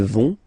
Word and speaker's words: vont: Ils vont. Elles vont. Okay, remember, final T not pronounced, so you get this ON nasal here. On, vont. Okay, so let's see them one more time.